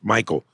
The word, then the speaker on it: McKeel: My name is McKeel, pronounced Michael.